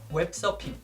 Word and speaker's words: 웹서핑: Now, once again, with the pronunciation, just get rid of the R at the end of the second syllable. And since we don't have the F sound in our language, we replace it with P, so it becomes 웹서핑.